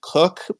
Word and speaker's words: Koch: uh pronunciation I think my family has always said cook but um there's like